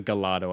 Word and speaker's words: Gallardo: there there it is the Gallardo or the gallado I've heard two ways of pronouncing it but I'm just gonna go with Gallardo for now because I feel like that's what everyone knows it to be now if you want